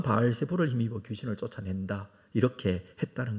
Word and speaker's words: 바알세불: 많이 있는데 신약에 와서이 바알세불 바알 세붑이라는 이것을 바알세불이라고 발음을 했습니다 신약성경에 여러 번 이것이